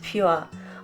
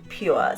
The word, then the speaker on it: Puer: Now Point Puer, and I hope I am saying this correctly, I did listen to a YouTube video of a lecture about the subject and this is how the narrator pronounced it. So Puer, so P-U-E-R, and Puer